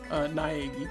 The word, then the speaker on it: Naegi: Is it Nagi? Is that how you pronounce it? Naegi.